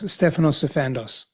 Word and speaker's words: Stefanos Sifandos: Pronunciate your name for me. Of course, Stephanos Sandos.